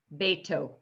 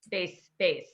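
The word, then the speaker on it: בֵּיתוֹ: Yeah, taf is always going to be pronounced as a hard T sound, with or without the dot. And again, that dot, beito. In the Sephardic pronunciation, it's always a hard T. Yes, in the Sephardic pronunciation, that's right. Ashkenazis would say base.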